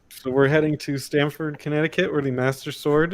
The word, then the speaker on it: Stamford: well it's funny because stanford connecticut is stamford is saying it wrong is a connecticut city